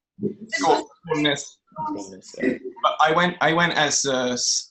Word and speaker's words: Skaalnes: Skaalnes.